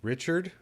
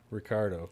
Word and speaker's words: Ricardo: We got Ricardo with us today. Yeah, it's good to be here. Nice to have you. Ricardo. Yes. What, Richard? Ricardo.